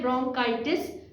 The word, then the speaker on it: bronchitis: इसकी प्रोनाउंसिएशन है ब्रोंकाइटिस।